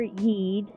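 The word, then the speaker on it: Yde: The Eid or Yeed, it is spelled with a Y, but Eid feels better to pronounce and sounds more right, so that's what I'm gonna go with.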